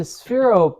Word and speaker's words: Sphero: So it's a sphero ball. That did I pronounce that?